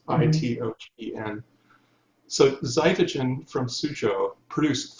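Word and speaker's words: Xitogen: He was a technology lead in a company called Cytogen. It's spelled with an X, Itogen.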